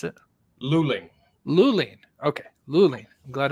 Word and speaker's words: Luling: this is loline Texas is that how you pronounce it Luling Luling okay Luling I'm glad I asked you because I'll probably I would have been saying low lean yeah all right is a small City population